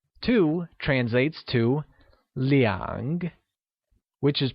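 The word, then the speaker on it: 两: shall say - as Liang and not as are as we learned before - translates to Liang which is pronounced using a falling rising tone here's an interesting tip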